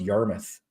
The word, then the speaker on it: Yarmouth: one day Manan island heor is pronounced Yarmouth Yarmouth okay gotcha George thanks